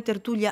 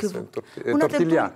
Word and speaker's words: tertulia: Et ensuite, on a une soirée tertulia à la Maison de l'Espagne à Aix. C'est quoi la tortilla? Non, tortilla. Parce que j'ai pas bien compris. Tertulia. Attends, vous prononcez bien, vous êtes prof d'espagnol, je suis désolé.